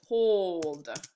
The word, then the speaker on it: told: So let's look at the word told. Notice there's only one O. There's one O, there's no vowels that follow it, and there's no W, and there's no E, silent E on the end.